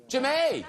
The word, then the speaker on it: Jemay: Do I pronounce this Jemay? Jemay. That's Jemay.